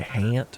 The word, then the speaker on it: haunt: The haunt. We pronounce it hant around here.